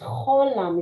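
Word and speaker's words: חוֹלָם: Cholam. Cholam. Mhm. But it's just the H sound and not the phlegmy H. It's an O sound. No, the name of the How? No, it's a CH. It's cholam.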